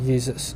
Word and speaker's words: Jesus: turn into German so in German though the the the J is actually a y so Jesus okay in German this is how you pronounce it Jesus uh well maybe not an identical pronunciation but I'm trying uh so so you have like that the why and it's it's it's a y sound and then in English